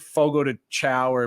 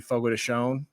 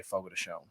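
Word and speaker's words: Fogo de Chão: say fogo de chao, but if you hear a commercial, they'll say fogo de chon.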